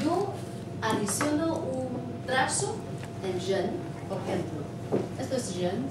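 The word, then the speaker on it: 人: Esta es Zhen. Zhen. Es así. El segundo tono, Zhen. Este es como, se pronuncia como R.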